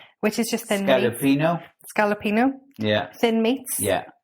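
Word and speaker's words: scaloppine: You It does are- mention plate of scallopine. Mhm. Did I say it right? No. Which is just thin meat. Scallopino.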